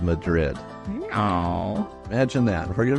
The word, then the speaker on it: Madrid: gym of a town called Madrid pronounced Madrid by locals this enchanting place was